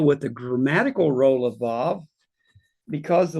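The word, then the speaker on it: וָו: And we pronounce it today as vav. In the Yemenite dialect, they pronounce it as wa.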